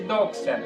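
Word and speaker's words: δόξα: E a palavra glória, ela no grego se escreve doxa, que quer dizer ponto de vista. A palavra glória no grego escreve-se doxa, D-O-X-A, doxa, que significa ponto de vista.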